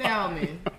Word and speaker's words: salmon: I got the stuffed It's so salmon. good. It Don't is. do me. Yes, don't do me. What the stuff what? Oh my God. The stuffed salmon. Okay. Salmon. Okay. Black. The L is silent.